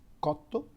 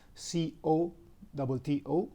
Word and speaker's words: cotto: E, the five vowels, if the letter C is followed by A, U, O, it's pronounced like a soft K. So house, for example, is casa, C-A-S-A, casa. Cooked, for example, is cotto, C-O-T-T-O, cotto.